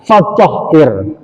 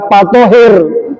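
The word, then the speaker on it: فطهر: Allah berfirman, ya, wasiyabaka fatahhir. Bacanya harus pakai fa, jangan wasiyabaka patohir. Nah, jangan, ya. Wasiyabaka fatahhir. Nah, yang benar begitu. Ya, jangan patohir.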